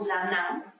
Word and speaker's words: rám nắng: Actually, to pronounce correctly is R, R sound, but lately nobody pronounce like that. You can actually pronounce like Z, Z sound, just like Z sound in English.